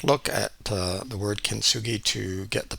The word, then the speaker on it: kintsugi: had a quick look at uh the word kintsugi to get the pronunciation and uh found out that it means